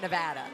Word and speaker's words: Nevada: Um, and you have to make sure you pronounce that right. Nevada. Nevada. Not Nevada. Nevada. No, it's Nevada. Um they will they will definitely go after you for that one.